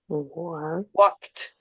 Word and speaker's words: walked: If you have K sound at the end here, then when you add this E d, it becomes a T sound. Walked. Walked. Walked. And you have to pronounce the K and the T.